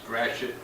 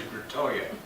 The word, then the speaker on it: Gratiot: my parents moved from Chicago, and they would not pronounce Gratiot. It was always Gratoya.